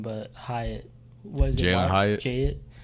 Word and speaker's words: Hyatt: I always forget his first name, but Hyatt. Was it Jalen Hyatt? Jay. I always want to say his name's Wyatt. I don't know why. Jalen Hyatt. It rhymes with.